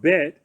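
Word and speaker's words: בּ: If you know what a bet looks like, it's pronounced bet when it's pierced with a dagesh.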